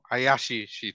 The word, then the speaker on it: Hayashi: with the quest utami haash oh I think I pronounced it wrong Hayashi there we go that's the right yeah I can't say